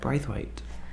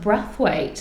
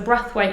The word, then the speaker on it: Brathwaite: so who is Brath weight um my son's actually pronounced breath weight breth did you know yeah cuz it's basian soes from Barbados so breath weight and Barbados is like